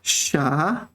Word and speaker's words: 啥: The problem is, my dear audience, the problem is that sha is second tone, right?